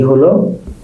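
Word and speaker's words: ح: হা, হার উচ্চারণ কোত্থেকে হবে? গলার ভিতর থেকে।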